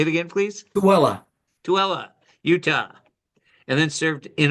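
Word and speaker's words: Tooele: Don, you'll have to correct me if I pronounce this wrong. In Tulele. Tuella. Say it again, please. Tuella.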